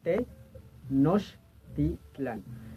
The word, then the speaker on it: Tenochtitlan: Ahora, en lo que respecta a en sí la palabra Tenochtitlan, si la desmenuzamos por sílabas, sería Tenochtitlan. De las palabras te o